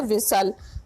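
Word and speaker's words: whistle: तो इसका right answer हो जाएगा ऑप्शन बी एच और टी, इसमें साइलेंट है विसल। ना एच की साउंड आ रही है इसमें, ना टी की।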